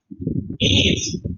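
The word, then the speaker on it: میز: मीज क्या बोलते हैं इसको? मीज, जिसे हम मेज कहते हैं वो मीज कहते हैं। प्रोनाउंसिएशन पे ध्यान देना।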